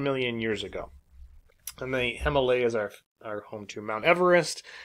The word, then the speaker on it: Himalayas: Let's talk about the Himalayas, or the Himalayas, as it's pronounced in some locations around the world.